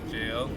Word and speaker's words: gaol: Black Jail. You know, I have a confession. I didn't learn that the GAOL was pronounced jail until like I was watching